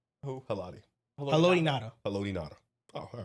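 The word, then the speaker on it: Haloti Ngata: Haloti Nada.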